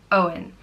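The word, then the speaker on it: Eoghan: or God's gift and it's pronounced o in Owen and it can be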